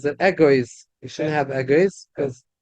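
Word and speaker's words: אגוז: But the aleph is not sounded, because we don't pronounce the aleph.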